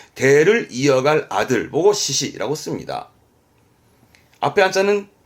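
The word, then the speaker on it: 嗣子: 이 한자는 발음은 시시 하는데 이 사자는 이어갈 사람, 이어갈 자식, 즉 대를 이어갈 아들 보고 시시라고 씁니다.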